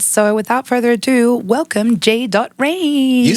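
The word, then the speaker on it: J Rain: amazing artists and so without further Ado welcome J dot range you said it right on the first hey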